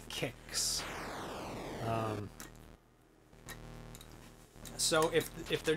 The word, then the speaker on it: Qix: yep it's like it's like kicks um so if if